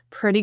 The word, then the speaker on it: pretty: Pretty good instead of good. The pretty, these T's are pronounced as lingual flap T's. So they sound like a D.